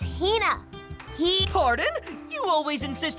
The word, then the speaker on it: Hina: And this young lady is my traveling companion, the esteemed archaeologist, Fina. You keep saying it wrong. It's Hina.